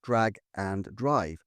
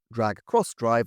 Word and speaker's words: Drag X Drive: A game that is, as far as I can glean, pronounced drag and drive. Not, as it's written, drag crossdrive, although the latter seems way cooler to me given the basketball context.